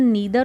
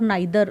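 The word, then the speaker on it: neither: बट नीदर Charu nor Divya, अब इस word की प्रोनाउंसिएशन नीदर और नाइदर दोनों एक्सेप्टेबल हैं, ठीक है, बट नाइदर Charu nor Divya has रेड एनी ऑफ his books yet.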